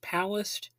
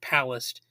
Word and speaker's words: Palast: And I've also heard it pronounced Palast, but I think it's pronounced Palast because in an interview that Jello Biafra did with him, he regularly pronounced it like that. And Greg didn't correct him or anything like that. So I'm just going to say like Palast.